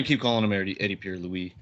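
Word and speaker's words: Piñeiro: Lou Eddie Pier Lewis Eddie Pierre Lewis we have been corrected on pronunciation Eddie Pierre Lewis I'm gonna keep calling him Ed Eddie Pier Louie it's it's so much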